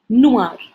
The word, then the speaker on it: noir: So the first color that we have here is black, noir, noir, masculine noir, feminine noir, masculine plural noir, feminine plural noir. Now the pronunciation for all is the same, but the spellings are different.